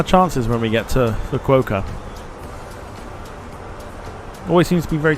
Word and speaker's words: Fukuoka: Fuck you, Oka. There you go. That's where we're going. It's not. It's Fukuoka.